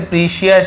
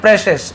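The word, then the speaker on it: precious: पजेस्ट प्रेसेस, ठीक है, इसे प्रीशियस ऐसे ही पढ़ते बहुत से लोग, एक्चुअल में इसका उच्चारण सही है प्रेसेस, इस प्रकार से।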